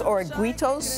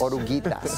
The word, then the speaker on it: Oruguitas: Dos Oruguitos? Oruguitas.